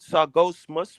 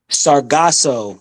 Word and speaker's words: Sargasso: Sargosmus? What? Sargasso, the Sargasso. Sargasso Sea, the How do you Sargasso spell it?